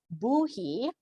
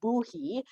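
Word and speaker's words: Bohea: it's called a colonial buhe um that's how you pronounce that b-o-h-e-a is pronounced boo-hee uh because it's a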